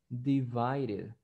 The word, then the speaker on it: divided: Si ustedes se fijan, la segunda letra D está en medio de dos vocales, está en medio de la I y en medio de la E. Entonces ahí ustedes van a pronunciar divided, divided, divided. Es como una R, divided, divided, divided.